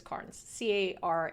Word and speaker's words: Carnes: I think it's Carnes, Carnes.